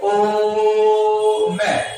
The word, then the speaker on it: ओम: ओम बोलना है तो इसको काफी देर तक बोला जाता है, जैसे ओम, है ना, तो काफी देर तक बोलते हैं, इसमें 3 मात्रा का समय लगता है, यानी मूल की अपेक्षा